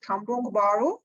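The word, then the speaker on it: Kampung Baru: but nearby me there is one area called cambrong baru is very old place so there you go how do you spell that rana it's k-a-m-p-u-n-g and space then b-a-r-u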